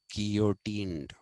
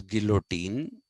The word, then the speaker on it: guillotine: They were taken to Paris and they were guillotined. People pronounce it as guillotine, Guillotine, but in French and in Spanish, LL is pronounced as ya. It's not pronounced as la.